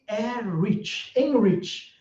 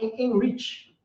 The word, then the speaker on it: Emerick: Estamos aqui com o Enrich. É assim que fala, Enrich. É um pouquinho mais simples, Ben. O nome é Emerick, mas se escreve dessa maneira que você está vendo por aí.